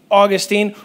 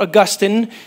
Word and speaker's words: Augustine: So let me give you a little bit about this guy, St. Augustine or Augustine. People pronounce it both ways.